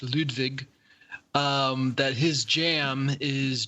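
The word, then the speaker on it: Ludwig: there's a streamer I I have to assume it's pronounced ludvig um that his Jam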